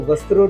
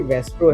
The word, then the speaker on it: VASTRO: और मैं एक पॉइंट कहना चाहता हूँ, सर बार बार वेस्ट्रो बोल रहे थे, मेरी कंपनी का नाम है वेस्ट्रो। बहुत सारे लोग अब वस्त्रो लेके चलते हैं, तो वस्त्रो नहीं है, ये वेस्ट्रो है, वास्तु एस्ट्रो sciences training and research organisation.